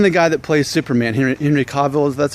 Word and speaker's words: Henry Cavill: Even the guy that plays Superman, Henry Cavill, that's how you say it, they all have receding hairlines.